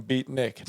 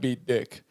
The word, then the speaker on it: beatnik: Beat Nick, not beat Dick.